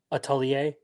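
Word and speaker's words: atelier: Atalier. Atalier. That one's fun. The only reason I know how to pronounce that word is because I read witch hat atier.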